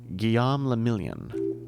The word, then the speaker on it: Guillaume le Million: Guillaume le Million. Drama, success. If it doesn't rhyme, you're not pronouncing it right.